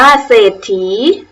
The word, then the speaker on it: เศรษฐี: ปราศรัย เศรษฐี อ่าน ว่า เศรษฐี ตั้ง เรื่อง สังเกต ดู นะ คะ ทั้ง 5 คำ ที่ พูด เล่น เอา เสียง ไป ครู ออก เสียง เรือ หรือ เปล่า ไม่ ออก เสียง พยัญชนะ เรือ นะ คะ ติด ต่อ มา พยัญชนะ